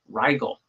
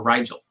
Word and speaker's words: Rigel: your sun is conjunct Rigel, or Rigel, however you want to pronounce it, which is a super, super bright, shining star.